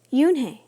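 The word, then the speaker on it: Unhei: correct it it's spelled u n HEI it's pronounced Yun oh it's U the boy said like you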